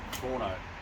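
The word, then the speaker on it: Tuono: uh Toronto which is spelled t-u-o-n-o let's actually pronounced torno which is Italian for thunder now I've owned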